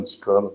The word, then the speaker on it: DICOM: On va parler notamment de DICOM, d'ICOM ou DICOM. Je prononce DICOM.